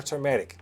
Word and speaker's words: turmeric: lord it's like but what's the right way to say it turmeric or turmeric yes you're saying it right okay so it's turmeric all right yes all right